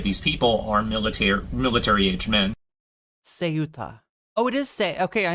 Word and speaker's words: Ceuta: It is a S sound, not a K sound. Okay, great. I was just making sure. I thought so. Ceuta.